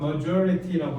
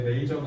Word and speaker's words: majority: 자, 저거 발음 조심하셔야 돼요. majority라고 해야 돼. 메이저가 아니라 majority 대다수라는 뜻이에요.